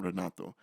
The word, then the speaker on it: Renato: My mom was so hard on people mispronouncing my name, Renato.